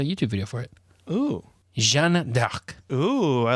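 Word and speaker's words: Jeanne d'Arc: my me furiously typing gender arc how to pronounce native french speaker oh there's a youtube video for it oh jean dark ooh i like that jean doc like dark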